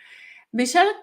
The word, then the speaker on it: Michal: It's pronounced Michal, but it's really hard. It's a hard character, I guess, for a lot of people to pronounce.